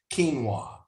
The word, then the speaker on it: quinoa: Looks like it's spelled quinoa, but quinoa is pronounced quinoa, which is a safe grain.